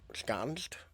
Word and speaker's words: ensconced: Say it like scones with N and a D at the end. Ensconced?